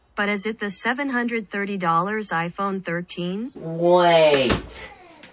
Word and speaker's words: iPhone 13: I should unbox my iPhone X3 now it's iPhone 13. I prefer iPhone X3 instead well Apple says it's pronounced iPhone 13.